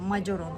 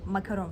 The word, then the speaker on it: Macaron: Köşk olarak geçiyor ve yazıldığı gibi okunuyor macaron olarak okunuyor makaron falan değil yani karıştırmayın e macın kelime anlamı